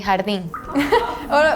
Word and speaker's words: jardín: In Spanish, we say jardín. There is a The pronunciation is so different, so we don't hear the similarity.